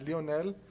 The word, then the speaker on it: Leonel: the pronunciation is uh Leonel so Leonel is typically what what you'll hear okay so it's the long e for you great teaching there it